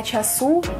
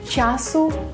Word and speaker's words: часу: Дарина Петрівна сказала «часу» та «доньку», а Ніка – «випадку». Правильно було б наголосити так – «часу», «доньку», «випадку».